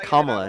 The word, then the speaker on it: Kamala: I'm just trying to correct the pronunciation. Okay, Kamala Harris.